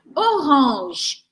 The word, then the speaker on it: orange: me seguindo agora deixa eu paus ela aqui orang orang é a cor laranja or or or